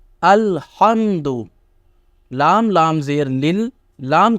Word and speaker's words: الحمد: کے دیکھیے کیا ہے۔ الف لام زبر ال، ہا میم زبر ہم، دال پیش دو، الحمد، لام لام زیر لل،